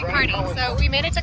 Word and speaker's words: Kearney: It's Kearney. It's not Kearney. It's spelled like Kearney, but it's actually Kearney.